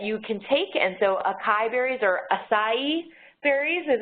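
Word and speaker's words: açaí: BUT THIS IS THEIR LATEST, IT'S AN APP THAT LISTS HERBS, THAT YOU CAN TAKE AND SO ACAI BERRIES IS HOW YOU PRONOUNCE IT.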